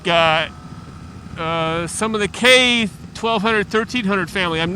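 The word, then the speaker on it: Köln: October motorcycle show in k I'm trying to pronounce that closer to the German pronunciation in America we'd probably say Cologne anyway the German motorcycle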